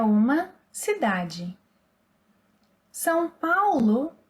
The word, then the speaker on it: São: Vocês são. Eles são. Elas são. So the nasal vowel sounds again.